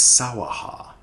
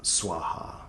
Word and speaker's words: Svaha: In Japanese it's sawaha. Um and in uh in India or in Sanskrit it's uh Swaha or Swaha.